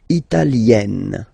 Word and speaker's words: italienne: L'Italie, italien, italienne. Remember, when you get this followed by a double consonant like here, then you will have to open it.